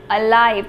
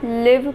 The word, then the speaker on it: alive: Second one is alive. कई बच्चे इसको live पढ़ते हैं, which is wrong. It's alive.